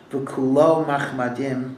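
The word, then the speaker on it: וְכֻלּוֹ מַחֲמַדִּים: Pero tingnan natin ano ang proper pronunciation sa Rabbi. This is from the Song of Songs. And it says, Chikau Mamtakim. It's describing a relationship with God. His palate is sweet. V'kulo machmadim.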